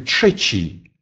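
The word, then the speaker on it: trzeci: И, как и звук «в», он произносится глухо, если стоит после глухого согласного. Например, в слове «тшечи».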